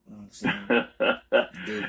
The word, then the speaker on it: Dugin: Dugan. And it's not spelled the way you think because he's Russian. So it's spelled Aleskandr.